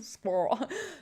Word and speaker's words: squirrel: a squirrel squirrel squirrel americans squirrel let's make two syllables one orange squirrel all